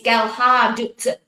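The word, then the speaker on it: Gelhardt: Uh the D comes at the end, not at the beginning. It's Ghard. Well, it says that we've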